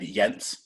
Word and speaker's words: Jens: So my name is said Yentz, and it's spelled just like it sounds, Jens.